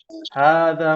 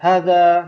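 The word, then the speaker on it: هذا: Tadi ada yang bacanya hadza. Nah, ingat ha dua harokat.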